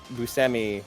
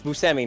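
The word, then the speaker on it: Buscemi: out in the episode it's not pronounced busemi or whatever yeah i think oh no yeah no steve yeah it's museemi not bushmi there so i did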